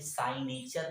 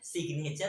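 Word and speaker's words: signature: देखिए, आपको यहाँ पे साइनेचर नहीं पढ़ना है, यहाँ पे क्या पढ़ना है? सिग्नेचर।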